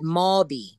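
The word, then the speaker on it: Mauby: Some people pronounce it Mabi. Mabi. Mabi.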